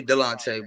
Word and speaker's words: Delonte: say your name lonte it's actually Delonte but I just tell everybody call me Delonte shorten it up okay